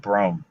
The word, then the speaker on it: Brougham: In America, this. we pronounce it Brome.